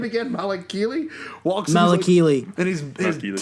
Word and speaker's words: Malakili: Malakili. Malakili.